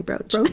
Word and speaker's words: brooch: amethyst brooch brooch brooch it's definitely not bruised it's definitely brooch nestled in i'm so